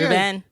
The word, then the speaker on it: Rubén: No, say Rubén. See, it's very nice. But people call me, hey, Rubén, is what?